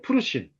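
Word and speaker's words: פרושים: 어 바리세파의 히브리식 발음은 푸르심이에요. 푸르심.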